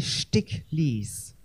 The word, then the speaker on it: Sticklies: real name stick please it's spelled STI ck l I guess you can remember it like the lies that stick I am just making